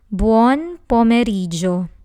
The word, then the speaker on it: buon pomeriggio: Next, we have buon pomeriggio. This word has 5 syllables. Buon, po, me. The letter E in the Italian alphabet is a soft E. It's e. Me, ri, gio.